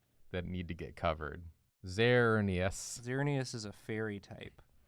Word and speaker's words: Xerneas: I think that's how it's pronounced. It would have to be. It would have to be. There's no other way to say X. Xerneas. That sounds like hernias.